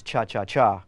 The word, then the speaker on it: cha-cha-cha: the cha-cha groove actually the correct pronunciation is cha-cha-cha with three that's right it's most